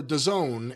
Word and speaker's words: DAZN: But he's the reporter for DAZN, and I believe when we covered the CM DAZN? DAZN, D-A-Z-N, if you ever see that, that's Is that how you say that?